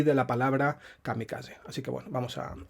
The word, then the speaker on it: kamikaze: nuestro idioma aunque bueno en castellano nuevamente lo pronunciamos kamikaze marcando la zeta castellana y el japonés sería kamikaze como como en catalán por ejemplo pero bueno vamos a